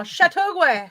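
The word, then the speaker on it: Châteauguay: plays tomoka as living with her children in chattaway chattaway chateauguay chittogway i said it right now chateauguay sudube should you be shipping um quebec hamoka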